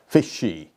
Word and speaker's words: fishy: 이건 문법적으로 틀린 것이 아니고 이것은 물고기 fish, 이것을 아이들이 쓰는 표현 fishy의 복수입니다. 발음은 fishy, she에다가 액센트를 주는 것이죠.